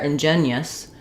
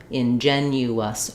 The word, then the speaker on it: ingenuous: If it's not there ingenuous, I might end up sounding like I'm just making three syllables instead of ingenuous all four syllables.